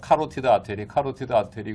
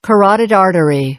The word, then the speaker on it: carotid artery: 다 마찬가지 전부 다 카로티드 아테리 그러는데 영어 발음이 카라디도 아니고 막 약간 L 발음 카라리드 아더리인데 그것도 빨리 얘기하면 아러리 이렇게 됩니다. 그러니까. Carotid artery.